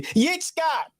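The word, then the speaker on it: יצחק: bottom that's the definition you see Yik Scott that's Isaac that's how you say it in the Hebrew and his two sons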